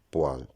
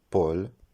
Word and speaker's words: poêle: Dans les deux cas, la prononciation correcte est poêle. Ce n'est ni Paul ni Poël.